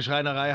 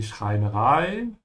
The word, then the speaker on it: Schreinerei: Die Schreinerei is carpentry. It's feminine because it ends with EI. And remember when you have an EI or an IE, always pronounce the second letter.